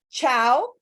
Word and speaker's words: ciao: in italian this is ciao and it sounds like chain okay so cha and